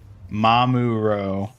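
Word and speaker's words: mamoru: Pronounced mamuro. Try saying mamuro, Ian. Mamuro. Very close, Ian. It's mamuro, with the emphasis on the first syllable, soft and flowing.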